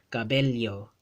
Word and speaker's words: cabello: Whenever two L's are spelled side by side in a Spanish word in the Philippine Spanish dialect, they get pronounced as a li. Cabello, cabello, cabello, or bella, bella, right?